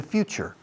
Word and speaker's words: future: Fijaos en la pronunciación. Few como unos pocos, unos cuantos. I have a few. There are a few objects on this table. Future. Como el inicio de la palabra iglesia. Church.